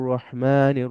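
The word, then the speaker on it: الرحيم: আরেকটু লম্বা করব বিসমিল্লাহির রাহমানির রাহিম এই যে হিমটা আরেকটু লম্বা করতেছে এরপর আমরা প্রথম আয়াতে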